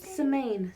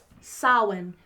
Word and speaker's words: Samhain: Semaine. Semaine? Yeah, I don't know how to pronounce that. Oh my god, it's way off than what I thought. Okay, hold on. Samhain. Samhain. Yeah, but it's got an H and an M.